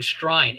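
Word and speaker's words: Strine: Uh, that's I think one of the books that was called speaking shrine. Str i ne which is the way that they would pronounce Australian.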